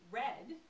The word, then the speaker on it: read: R-E-A-D can also be pronounced in the past tense with a short vowel sound, so read or red, and only E-A can make that possible.